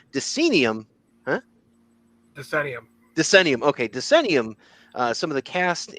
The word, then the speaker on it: Decennium: the uh TMNT denum huh denium denium okay denium uh some of the cast and some of